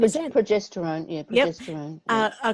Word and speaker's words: progesterone: And I understand the hormones estrogen and how do I pronounce it? Progesterone, is it? Progesterone, yeah, Yep.